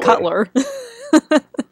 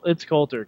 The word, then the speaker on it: Coulter: Yeah, how do you pronounce her last name? Everyone's saying it differently. You said Cutler. I said Coulter. Yeah, it's Coulter because Cutler is a horrible quarterback.